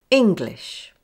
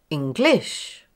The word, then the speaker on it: English: English. English. The first syllable. It's fairly equally balanced, but with stronger stress on the first part. If I say it wrong, you hear English.